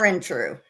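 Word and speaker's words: Ehrentreu: tonight we have a Barbara Arentree? Arentree. Arentree. See, Arentree. Arentree. Arentree. Arentree. Correct. Okay, she can say it better than me cuz it's her name.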